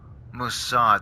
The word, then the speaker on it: Mossad: Mossad, that's how you pronounce it.